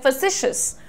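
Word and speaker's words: facetious: ठीक है, ये जो लाइट वाला अ होता है जिसमें हम कहते हैं फैसिशियस। ठीक है, जैसे फ सी श स, फैसिशियस।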